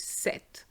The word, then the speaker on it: cette: you're going to put set which has exactly the same pronunciation as seven so let's see how